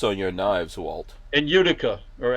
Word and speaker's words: Utica: In Utica or Attica, Utica, how do you say that?